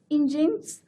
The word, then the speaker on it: Nginx: It's pronounced as Nginx, and Apache IIS, which is of Windows web